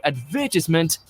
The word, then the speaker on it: advertisement: little jarring to hear advertisement if someone says it differently. Problems arise in the middle syllable, with some saying tis and others saying ties, as well as putting the stress in different places.